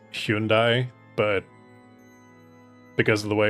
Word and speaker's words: Hyundai: It's kind of like I I know it's supposed to be pronounced Hyundai, but because of the way it was marketed, like I I I say Hyundai.